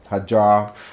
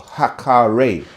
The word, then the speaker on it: Hagar: Which becomes Abraham, and Hagar, who people pronounce like Hajar, Hagar, or Hakare, through their son Ishmael, or they say Ismail or Ishmael.